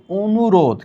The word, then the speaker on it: অনুরোধ: পরবর্তী বর্ণের দীর্ঘইকার আছে এখানে আছে অনুরোধ কিন্তু আমরা পড়ছি অনুরোধ কেন অকে ও পড়ছি কারণ এই শুরুর অ এর পরে রস্যুকার রয়েছে সেইজন্য অধ্বনি ও তে রূপান্তরিত।